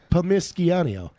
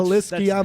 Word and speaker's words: Palmisciano: Palmisciano. Oh, is that what it is? Yeah, it's No. I've been pronouncing it wrong I know, this it's entire Pal- time. it's That's Palmisciano.